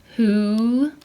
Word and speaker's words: who: so if a word begins with wh and is followed by an O The W is silent so here's the wh right who think it looks like